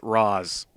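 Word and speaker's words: Ra's: Well, in arrow in the Dark Knight movies they always pronounced Raz. No, it's pronounced Raz, but they pronounce it ra in the animated series.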